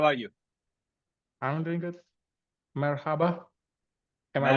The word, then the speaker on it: Merhaba: Merhaba. Am I right? Merhaba. Yes, your pronunciation is great, and thank you for inviting and accepting me this exclusive event.